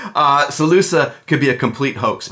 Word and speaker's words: Salusa: that play safe and he probably meant it to be pronounced SaLuSa okay but any Latin speaker reading it would probably pronounce it sale us up alright but what about